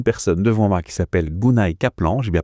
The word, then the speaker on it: Gunay Kaplan: Et aujourd'hui je suis assez honorée parce que j'ai une personne devant moi qui s'appelle Gunay Kaplan, j'ai bien prononcé ton prénom?